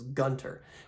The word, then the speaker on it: Gunther: Gotta Give it to Gunther in this one Gunter however you pronounce it I believe he's supposed to be pronounced as Gunter which I'm okay with